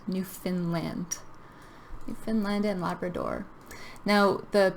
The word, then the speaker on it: Newfoundland: So when we pronounce this, we kind of change the word found to fin. Newfoundland. Newfoundland.